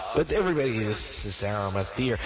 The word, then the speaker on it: Arimathea: It's Arimathea. But everybody, this is Arimathea.